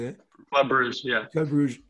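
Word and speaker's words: Club Brugge: Club Bruges, yeah.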